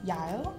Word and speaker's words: Yael: So, I'm here with Dascha and Yael. How I pronounce it correctly? You did beautifully.